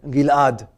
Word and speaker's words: Gilad: My name would be pronounced by my Moroccan Israeli family. They would say Gilad. How do you spell that in English? Gilad. Gilad. It's almost like an apostrophe. I don't know.